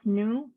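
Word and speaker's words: GNU: actually really mean dnu Linux and GN is pronounced new but it doesn't really matter how you pronounce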